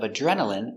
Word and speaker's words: adrenaline: Remember, DR together make the sound J. So again, J. Adj. Adjur, adjur. Adre, adre. Adren, adren. Adrena, adrena. Adrenal. Adrenali, adrenali. Adrenaline, adrenaline, adrenaline.